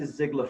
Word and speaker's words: Ziglar: bit of family research it's a german name and it's generally spelled uh differently than what we spell it uh it's usually we spell it z-i-g-l-a-r in almost always it's er and sometimes there's an i in it so it'll be like ziegler like z-i-e-g-l-e-r but when